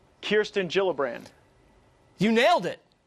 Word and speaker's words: Gillibrand: All right, so Kirsten Gillibrand, not Gillibrand. It's a soft G.